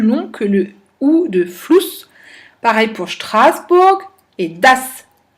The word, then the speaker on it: Fluss: écrit se prononce et tout ce qu'on prononce s'écrit. Der Fuß, der Fluss. On entend bien que Fuß, c'est beaucoup plus long que le OU de Fluss.